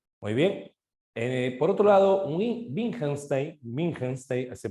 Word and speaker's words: Wittgenstein: Por otro lado, Wittgenstein, se pronuncia de esa manera, sí tenía ideas sobre el lenguaje, ¿no?